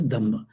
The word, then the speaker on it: Dhamma: The Dhamma is a Dharma, is pronounced as Dhamma.